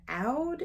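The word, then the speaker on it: oud: is rain Cypress and out is maybe how you pronounce it o-u-d and I really uh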